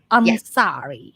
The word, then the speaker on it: Ansari: So Nicole and Ansari, is that right pronunciation? Ansari, yeah, is an actress.